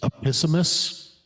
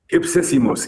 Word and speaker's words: Ipsissimus: Epissimus? Ipsissimus.